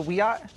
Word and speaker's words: Wiyot: It's pronounced Wiyot. Oh, I beg your pardon. Well, I stand corrected and informed. So, of all the statues to prominent Americans, why does this statue offend the Wiyot tribe?